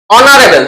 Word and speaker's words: honorable: Here h is a silent letter.